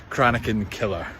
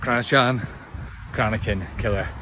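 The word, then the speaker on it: Cranachan Killer: would like to just clarify that the pronunciation is konakan killer konin killer H not cran crakin killer based off the famous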